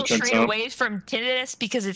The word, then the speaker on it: tinnitus: Did you know the proper pronunciation of the word tinnitus is tinnitus?